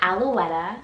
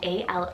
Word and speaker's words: Alouetta: more girls names here i have the name alouetta spelt a-l-o-u-e-t-t-a alouetta and this one's french rooted meaning lark